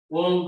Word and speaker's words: ओम: ओम का उच्चारण 90% ओ बोलना है, 10% माँ बोलना है।